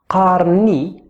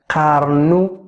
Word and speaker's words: قارن: talking to a woman, قارنوا if you are talking to a plural, to a group of people. So let's try and work the pronunciation. قارن. The letter ق comes from here.